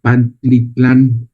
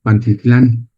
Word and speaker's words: Pantitlán: Entonces, si ustedes van a la al metro de la ciudad de México, hay una estación que se llama Pantlitlán. Pantitlán en la L. Pantitlán.